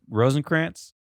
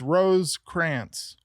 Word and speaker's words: Rosekrantz: Rosencrantz? Yeah, but without the N in the middle. So just Rosekrantz.